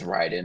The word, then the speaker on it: Raiden: Like I I love Ra is it how do you say Raiden or Ryden?